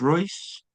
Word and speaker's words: Reuss: but you're everything uh for Black is it pronounced Royce? Yes. Yes. Black Royce, which is um the river that runs uh by your your town.